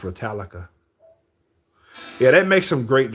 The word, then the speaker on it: Ratalaika: I think it's pronounced Retallica, like Metallica says with instead of a M is a R.